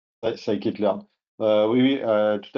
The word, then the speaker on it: Scikit-learn: comment on le prononce, je pense que c'est Skitelearn ou Skitelearn. Scikit-learn.